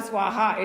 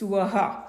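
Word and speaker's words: सुवः: bhu, om, bhur, bhuva, swaha. It is not swaha. Swaha is a different word. It's suvaha.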